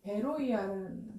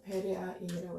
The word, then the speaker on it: 베로이아: 이 베레아라는 뜻은 이 베로이아라는 헬라어로는 원래 베로이아예요. 베로이아. 발음이 이제 베로이아인데 이거를 이제 우리 개혁개정 음역으로는 베레아인이라고 해서 이거를 또 가지고 이단이 엄청 많이 생겼잖아요.